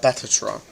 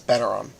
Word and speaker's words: Bataron: Not Batatron. It's Bataron.